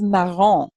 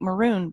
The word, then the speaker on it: marron: Then we have marron. which unfortunately in this textbook looks like maroon, but it's not.